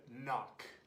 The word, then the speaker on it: knock: Spell it with a K, but when you say it, pretend it's not there.